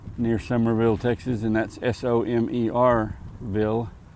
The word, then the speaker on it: Somerville: And that's s o m e rville, not s u m e s u m er.